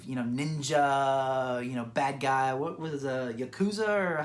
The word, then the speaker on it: Yakuza: What was Yakuza, or how do you say the... It's the Yakuza.